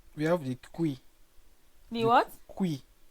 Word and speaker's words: cuy: kui, this is spelled as CUY, but then the pronunciation is Kui.